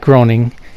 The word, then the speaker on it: Groening: the guy who made Simpsons and Futurama Matt Groening he has another show coming out since Futurama